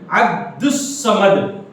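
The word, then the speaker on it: عبدالصمد: جیسے عبد الصمد، جیسے عبد الصمد، اس کا تلفظ اس طرح ادا کیا جائے گا. تلفظ کیسے پڑھیں گے؟ دیکھیے عبد الصمد، عبد الصمد آپ کی کتاب میں دیکھ لیجئے، عین با دال عبد، پھر صاد اس پہ جزم، عبدس، پھر صاد میم دال، عبد الصمد.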